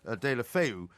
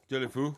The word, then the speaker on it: Deulofeu: the break there, not Jack Wishere, but Gerard Deulofeu, who might be coming back to Everton. We'll be talking to Andy Gray. Deula what? Deulofeu.